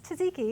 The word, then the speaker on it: tzatziki: All right, let's whip up a tangy yogurt dish for our mez platter, tzatziki, which we tend to pronounce as tzatziki in the United States.